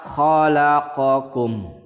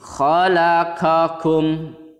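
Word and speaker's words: خلقكم: Jangan sampai kalian membacanya seperti ini. Khalaqakum, kakum itu seolah-olah terdengar qafnya itu kaf dan dua-duanya kaf. Padahal di kalimat atau di kata khalaqakum itu qaf dan kaf.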